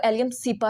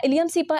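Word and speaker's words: Allium cepa: भी बोल सकते हैं बट आई प्रेफर कि आप इसको एलियम सीपा ही बोलिएगा ठीक है इलियम सीपा एलियम सीपा इस तरीके से इसको आपने प्रोनाउंस करना है which is the scientific name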